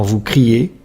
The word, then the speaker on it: criez: Enfin, on fait le son E dans vous criez avec les lettres EZ.